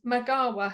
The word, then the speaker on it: Magawa: And did everyone know Bart is the person who gave the world Magawa? Have I pronounced that correctly?